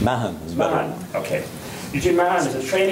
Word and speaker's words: Mahon: Is that the correct pronunciation? Mahon.